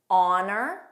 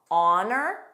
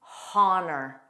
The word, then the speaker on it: honor: honor, silent, ah, ah, honor, and with an H, which is incorrect, honor. That's incorrect. But remember, the rule is you pronounce H in English. It is simply these words that are silent.